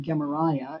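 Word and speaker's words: Gemaryahu: The top line, you read from right to left, says Gemariyahu. That's the Hebrew. We pronounce it Gemariah as we're reading this.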